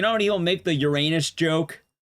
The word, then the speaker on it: Uranus: Uranus. You don't have to pronounce it Ur anus.